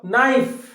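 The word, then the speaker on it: knife: এবারে দেখো নাইফ, নাইফ, কে এন আই এফ ই, কিন্তু এন আই এফ ই উচ্চারণটা হচ্ছে, কিন্তু কেটা উজ্জ আছে, কি হচ্ছে নাইফ।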